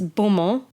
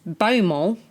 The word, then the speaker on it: Beaumont: I don't know how to pronounce this because in French it's Beaumont, but in Australian it's Beaumont. I can't do an Australian accent. Beaumont. Grant Beaumont.